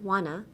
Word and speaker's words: wanna: Want to もいいんですけど、speaking 喋る言葉だったら WANNA wanna にしても発音しやすいかなって思います。I didn't wanna cut it. Want to. Like if you say want too fast, it sounds like wanna anyway, so I don't wanna cut it.